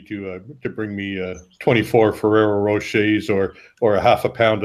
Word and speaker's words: Rocher: So I mean, it looks like it's spelled Rocher or Rocher or something. That's Rocher.